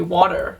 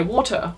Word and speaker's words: water: end whereas i know americans say water and they kind of get the r really sharp and then if someone had quite a proper british accent they might say water which you know the t in the middle is being pronounced as well i would say we